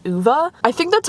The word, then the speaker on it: Ove: every part of me keeps wanting to say uve but on the audio book He's pronouncing it like UA so I'm going to go with UA I just decided to uh drive down here